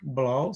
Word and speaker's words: Blau: vai discutir isso é Peter blau A Hiper blau se escreve como se fala com o no final